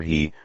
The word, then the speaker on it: he: The 6 sounds are, su, pronounced like shh with a deep sigh, which is associated with the liver, he, pronounced like her with a yawn, which is associated with